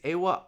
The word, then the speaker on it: Awa: I think it's Awa. I think it's Awa Fam is how I've heard it pronounced.